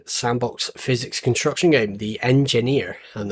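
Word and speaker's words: Enjinir: physics construction game the engineer and I say it like because it's spell e the e n j n i r it looks similar in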